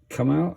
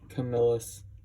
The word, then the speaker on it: Camillus: Come out? How do you pronounce that? Camillus.